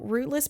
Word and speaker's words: Routeless: So, Rootless Podcast, it's spelled R O U T E L E S. So, rootless, routeless, however you want to say it, is basically a place where I feel everyone can come.